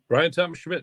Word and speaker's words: Bryan Thomas Schmidt: further Ado we're gonna let our guest Mr Brian Thomas Schmidt introduce himself to our listeners and viewers did I pronounce that right Brian Thomas Schmidt yes that is correct outstanding correct yes introduce